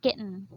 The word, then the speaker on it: kitten: kitten or kitten kitten in American English it is um it will read or it is pronounced as kitten so it is silent t so the elephant and